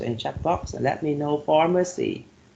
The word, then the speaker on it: pharmacy: checkbox let me know pharmacy that's a free syllable for mercy and the first syllable receives the stress right far and you match